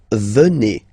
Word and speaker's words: venez: Okay, then classic ending for vous, Z here, and then you pronounce it et, vous venez.